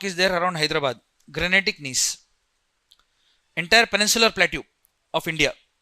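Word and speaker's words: gneiss: Granetic knees. Entire peninsula plateue of India. What type of rock is there? Granetic n in this G silent when you pronounce it you have to pronounce with more stress on I.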